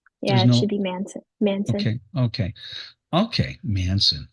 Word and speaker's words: Manson: yeah so Shirley Shirley Manson's the lead singer obviously of garbage is that Mason Shirley Mason it's Manson I'm sorry the BIOS says Mas o n yeah it should be Manson Manson okay okay okay